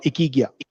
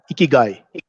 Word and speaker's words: ikigai: you look at in in japanese it's called ikigia ikigai right it's the meaning of ikigai is a